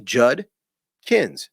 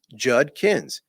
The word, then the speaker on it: Judkins: It's J-U-D, Judkins, Judkins. There's no N in there, but you will hear one nonstop.